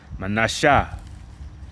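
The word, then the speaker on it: Manasseh: And in the Hebrew it is pronounced manasha which means made to forget because as as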